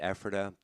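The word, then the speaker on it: Ephrata: And they were doing it in Epherta. Yes. Is that Did I pronounce that right? That is correct. Yeah. Okay. uh Burdenhand Epherta on Old US30.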